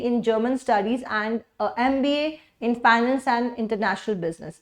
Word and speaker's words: MBA: MBA जो है, MBA भले ये M है मगर इसकी प्रोनाउंसिएशन ए है, एम है ना, ए इसकी साउंड आएगी।